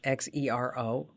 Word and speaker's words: Xero: It's spelled with an X, Xero, and that's free for small businesses.